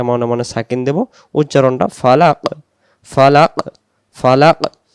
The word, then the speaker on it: فلق: উচ্চার ফালাক ফালাক ফালাক যদি আমি দমটা এভাবে বলি ফালাক ফালাক তাহলে এটা কফটা হবে না তখন কাফ হয়ে যাবে উচ্চারণটা ছেড়ে দেব ফালাক ফালাক মানে আরেকটা ভিতর থেকে জিহ্বার গোড়া থেকে একটু শব্দ হবে ফালাকুল আউজুবিল ফালাক এই